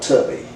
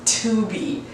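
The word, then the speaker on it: Tubi: uh streaming service called Tubby no Dad it's first of all it's pronounced tuby well it should be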